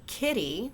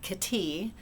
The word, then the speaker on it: kitty: right so in English this is a kitty with emphasis on the first syllable and not k t with emphasis on the